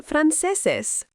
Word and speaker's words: franceses: Somos we are American son Frances pronounced frances they are French notice that with nationality